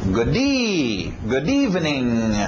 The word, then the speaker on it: good evening: Próximo também, o D batendo no E. Ok. E a batida aqui. Good evening.